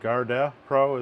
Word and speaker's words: GardePro: GardePro is the way it was recommended, so that's what we're going to use.